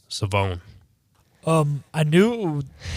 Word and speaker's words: Shavon: Rebel was actually pronounced savone um I knew I had been told that the H wasn't there so I did know